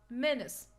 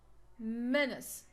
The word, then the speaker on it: menace: on the second syllable we have minutes Menace so we have here short sound short e sound we cannot stress it so we will stress the first syllable Menace Menace we have enter